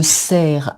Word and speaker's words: cerf: Donc, le cerf, un cerf, des cerfs, hein, sans Mhm. prononcer le F final.